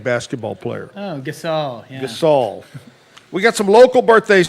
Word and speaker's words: Gasol: he's an NBA basketball player oh gasel yeah Gasol we got some local birthdays today want to